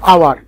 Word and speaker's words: hour: আরেকটা এক্সাম্পল দেখো, আওয়ার, HOUR, আমরা কিন্তু এটাকে হাওয়ার বলি না, আওয়ার বলি, কারণ এইচটা উজ্জ রয়েছে, আমরা ওটাকে উচ্চারণ করছি, যার জন্য এখানে আমরা অ্যান ব্যবহার করব।